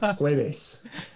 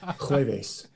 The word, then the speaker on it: jueves: No, they call it Jueves. Jueves. So Jueves with a J, Jueves, Jueves is obviously Jove's day.